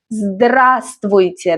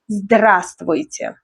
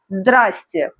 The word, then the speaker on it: здравствуйте: When in doubt, use здравствуйте. Let's learn pronunciation. Здравствуйте. This one looks long, but it's often shortened in speech. The first V is often silent.